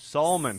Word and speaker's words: Salmon: pronounce it okay Salman elements clothes Solman he got so mad like soul man likes all like better call Saul there should be a